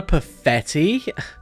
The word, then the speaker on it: Perfetti: Yes, I'm Perfetti. Don't you know who I am? It rhymes with spaghetti.